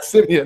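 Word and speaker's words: Siemian: I want to say Seaman, but I know I'm not going to be saying it right. Yeah, Simeon.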